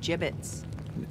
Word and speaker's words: gibbets: out of here hey look avery had some gibbots left over gibbets what it's pronounced gibbets are you sure yeah well no one likes